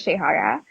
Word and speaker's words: Shahara: like sh is this no you said it right yeah so everyone calls me name everyone calls me Shay but my name is Shahara um I'm over on